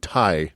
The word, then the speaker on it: Ti: They began to refer to themselves as Do and Ti. Do and T. I had to look up the pronunciation.